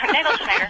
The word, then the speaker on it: Nagelschneider: Well, if anyone can pronounce my name, I always say it's easier than Jingleheimer Schmidt. So, Nagelschneider.